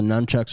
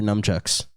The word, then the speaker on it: nunchucks: used to grab everything they were numb chucks nunchucks spell it n u n c c-h-u-c-k-s i could have sworn you said numb chucks i did on accident i meant nunchucks one would say that you